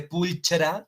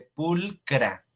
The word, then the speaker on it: pulchra: No se dice pulchra, no, se dice pulcra. Pulcra, acuérdense de la pronunciación en latín.